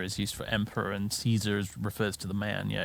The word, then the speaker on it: Caesar: people for saying Caesar that's how you say in English I never understand that stuff people are really inconsistent about what they want to pronounce like Roman style and what they want to pronounce English style brutal we're not speaking Latin here we're speaking English and in English its Caesar no need to be